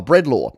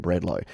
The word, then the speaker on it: Bredlo: and uh aaron uh breadlaw uh he has he's given me the phonetic pronunciation before and it is bread law i remember from last time when i called him bread low bread law uh this